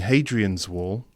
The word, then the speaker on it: Hadrian's Wall: The wall being Hadrian's Wall, okay, which is the Roman wall in the north of England, which separates, or used to separate.